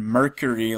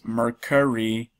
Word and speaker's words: Mercari: Somebody tried to correct me on the pronunciation of Mercari, but I think I was saying Mercari like the planet, but it's Mercari.